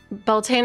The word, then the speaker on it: Beltane: Beltane is said phonetically in modern English.